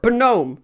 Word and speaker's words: Gnome: Number 4, Gnome. Yes, that is how it's pronounced.